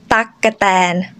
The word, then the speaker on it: ตั๊กแตน: So together, takkatan.